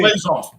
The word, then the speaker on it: Plaisance: He says Playzan or Playzance. Somebody just put look who chimed in. You had it on there. It's Oh, Dorothy. I thought that was Roy. Yeah, she chimes in. Plaisance. It's Plaisance. Plaisance. Okay. Plaisance. Plaisance. So is it Plaisance or Plaisance? Plaisance. It's French, of course.